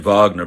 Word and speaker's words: Wagner: but is it pronounced I've been pronouncing it Wagner because I assume it was the German pronunciation not the English pronunciation oh no it is no okay you're you're right on the money there for sure yeah I know